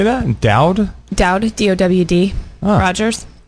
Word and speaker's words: Dowd: Dowd?